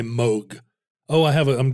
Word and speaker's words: Moog: this before right the the uh moo synthesizer his name is Bob Moog even though it's spelled m o a lot of people